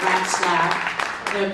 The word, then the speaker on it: Ratzlaff: That's her real name, Ratzlaff. People always ask her how to pronounce her name, and I say mice giggle and rats laugh.